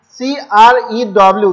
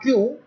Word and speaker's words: crew: town so crewman means c r e w this is pronounced as crew not q this this the simple